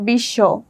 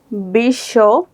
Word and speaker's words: বিশ্ব: আসো দেখি উদাহরণ হচ্ছে বিশ্ব। এখানে তালুবসর নিচে ব ফলাটি যুক্ত হয়েছে। বিশ্ব তারপরে আসে দার।